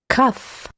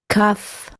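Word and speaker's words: כף: Kaf, Kaf, K, as in ark, and without the dagesh it is Chaf, Chaf, like when clearing out your throat.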